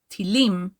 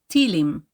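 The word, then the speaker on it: טילים: he is funny missiles while the word missiles in Hebrew is pronounced by stressing the last syllable in the word tilim when we use it as a slang term we stress the second to last syllable tilim which means he is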